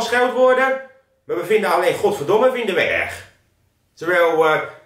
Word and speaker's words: godverdomme: eh ja trouwens godverdomme als je een beetje goed luistert dan klinkt godverdomme als goedemorgen Luister maar eens goed godverdomme Goedemorgen het is het heeft een beetje dezelfde k klemtoon dus als je voan